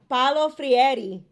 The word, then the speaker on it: Paulo Freire: Paulo Freire.